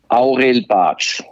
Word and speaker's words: Aurel Bacs: having been exposed to people pronouncing my name in zurich in the sort of german pronunciation so if you really ask me now well how did your teachers or your school friends call you that pronunciation would be aurelbach now that's far from